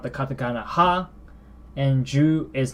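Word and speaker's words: 十: So number 10 is pronounced or written like this. Ju. Ju. That's 10.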